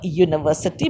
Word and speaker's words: university: center for higher learning a university because pronunciation is you you buy some since